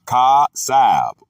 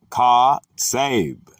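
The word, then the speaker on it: חָצַב: The Hebrew word is katsab, pronounced ka-sab, or katseb, pronounced ka-sab.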